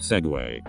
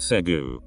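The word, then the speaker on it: segue: Today I learned that the word seg is pronounced segway. I thought it was pronounced segu, and that segway was a different word that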